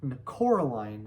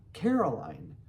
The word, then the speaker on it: Coraline: You know, they kept saying Coraline, not Caroline, not Caroline at all.